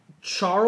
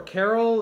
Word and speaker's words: Chorale: It's KK Charle or Carol. It's Chorale. We just got that in KK Western.